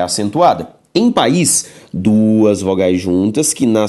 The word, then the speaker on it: país: sílaba é a tônica quando lemos a palavra país país é uma palavra oxítona oxítona por quê Porque a última sílaba tônica agora a regra de